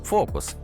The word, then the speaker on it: Fooocus: Như bạn có thể thấy, cách viết khá lạ, mặc dù nó được đọc là "focus". Đây là một mạng nơ-ron